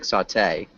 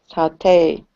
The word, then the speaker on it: sauté: like that Sal close we actually emphasize the second syllable so it sounds like sauté sauté nice fry stir fry